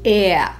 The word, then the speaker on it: er: Aj tu si musíme dať pozor na výslovnosť. V nemčine totiž platí pravidlo, že r na konci slova sa nevyslovuje ako r, ale ako a. Toto je takzvaná redukovaná výslovnosť. Takže nebude to slovenské R anglické r, ale nemecké e. Pokojne pritom úplne zvezte bradu a vyslovte ea.